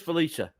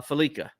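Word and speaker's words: Fallica: Um real quick, uh Chris Felicia, uh Felica, that's it. Chris Felicia. Now, we said it right.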